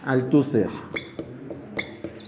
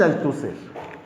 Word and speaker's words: Althusser: Luego, si lo pronunciamos en francés, saben que en francés se omite la S. El Luis Althusser. Luis Althusser.